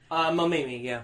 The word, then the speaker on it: Mamimi: So it starts with Takun and how do you pronounce her name? Who's? Mamimi? Mamimi? Is it? Mamimi, yeah.